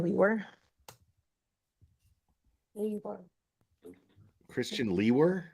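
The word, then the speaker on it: Liewer: last name Christian and my last name is spelled l-i-e-w-e-r and it's pronounced Lee were and where are you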